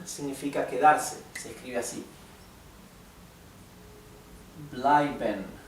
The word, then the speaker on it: bleiben: Bleiben significa quedarse. Se escribe así. Bleiben. Recuerden que la EI siempre se pronuncia ai.